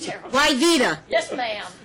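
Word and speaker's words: Wyveta: Why Vita? How do you spell that? I know, it's terrible. Why Vita? Yes, ma'am. W. Good Southern name. Ignore the W.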